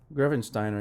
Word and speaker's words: Grevensteiner: And help me pronounce this because I might get it wrong, but I'm going to say Grevensteiner. Is that correct? Grevensteiner, yeah.